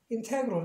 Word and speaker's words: integral: 그러니까 시와 발음하면 안 되고, 또 전체적인 발음은 integral 이렇게 발음을 합니다.